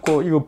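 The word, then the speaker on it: 父: 이 분 의 이름 은 'Fu' 라는 한자로 쓰지만 'Bo' 라고 읽습니다 . 'Fu' 로 읽으면 아버지 라는 뜻 이지만 , 명사로 쓸 때 는 보통 'Bo' 로 읽습니다 .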